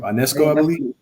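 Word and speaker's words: Ionescu: the way Sabrina Sabrina I how do you pronounce her last name UNESCO yeah and that's good thank you I'm gonna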